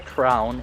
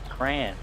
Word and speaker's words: crayon: Not a crayon, a crayon. It's not a crown, it's a crayon.